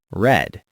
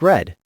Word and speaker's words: read: Sounds like read, but the past participle is spelled the same way, but pronounced red. Sounds like red.